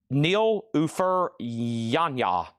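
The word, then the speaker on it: Nilüfer Yanya: This one here, thank you, Laura, for the pronunciation, is Nil Ufer Yanya.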